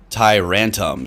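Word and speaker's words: Tyrantrum: Rantam. So kind of a rhymes with tantrum, I guess.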